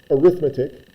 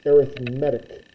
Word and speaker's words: arithmetic: word and you think arithmetic but the way it's pronounced in this context is arithmetic with the emphasis on the E for medic but uh so it's an arithmetic sequence but if you